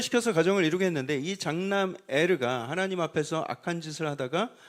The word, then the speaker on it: 에르: 유다에게 아들이 셋이 있었는데 첫째 아들의 이름이 엘리였습니다. 히브리식 발음으로 에르.